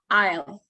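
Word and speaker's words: aisle: uh in this word it's written nicely but actually it it is um pronounced Isle so English words is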